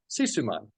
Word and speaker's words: Sisuman: this magnificent brand called cuman and is that pronounced correctly cisum man absolutely correctly yeah and cisum man makes some